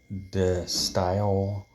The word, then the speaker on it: De Stijl: Um This is pronounced like De Stijl, which is Dutch for the style.